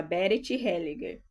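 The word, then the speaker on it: Bert Hellinger: Eu não sou muito boa com esses nomes estrangeiros, mas é assim o nome e a pronúncia Ber Helliger.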